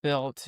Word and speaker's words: Bilt: I want to say for anybody that doesn't know that Built is spelled BILT.